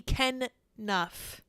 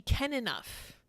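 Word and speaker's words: Kenough: pronounce this is he can Nuff as in is he can enough across social media many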